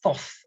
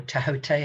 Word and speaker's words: Thoth: like this thoth activation, or tahote, however you like to pronounce it. I just say thoth. I can't help it. That's what I say. But some people say that's not how you pronounce it, but that's how Wilma pronounced it.